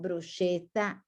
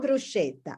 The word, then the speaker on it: bruschetta: find on the menu bruschetta they pronounce bruschetta now it's not bruschetta is this sound cake bruschetta okay so now you